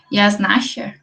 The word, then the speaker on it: Yásnaya: corrija sobre a pronúncia, Yasnasha, é isso? Em espanhol, o Y tem som de J, né?